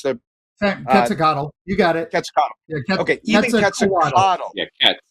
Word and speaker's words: Quetzalcoatl: How do you pronounce that, Mark? What's the Quetzalcoatl? You got it. Quetzalcoatl.